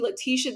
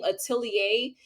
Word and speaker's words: Leticia: saying my name wrong instead of calling me Leticia they were calling my first name atier and I'm like it